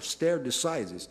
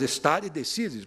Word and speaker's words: stare decisis: E o poder vinculante dessas decisões traduz-se na expressão latina stare decisis, alguns americanos, com a pronúncia dele, falam stare decisis, mas stare decisis, porque, evidentemente, é uma expressão latina.